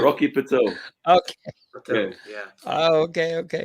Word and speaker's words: Rocky Patel: Rocky Paddle. Rocky Patel.